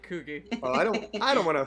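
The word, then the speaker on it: Cugi: His name is Kugi. Koogie? Kugi.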